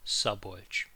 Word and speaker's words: Szabolcs: My name is Szabolcs. I understand it may sound like an unusual name to you. The letter Z is not pronunciated separately. Again, it sounds like this, Szabolcs.